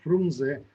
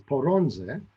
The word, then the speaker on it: Frunze: the problem is that the kyrgyz pronounced uh pronounced frunze as poronze because their language has no letter f nor does it have clusters of continents of consonants so it's very funny